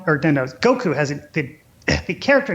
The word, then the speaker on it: Goku: Everybody refers to him as Goku, but the correct way to say his name is actually Goku. Like, you have to. It's weird. You're supposed to emphasize the Goku.